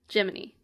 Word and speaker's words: Gemini: I'm it's extremely funny they do spell it Gemini but they all say geminy legally distinct J Cricket